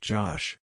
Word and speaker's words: Gosh: It's pronounced Josh.